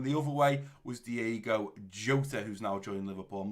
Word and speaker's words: Jota: I've actually learned, I think it's Jota or Jota. I think the J is pronounced. Normally you wouldn't pronounce it, but supposedly it's Jota.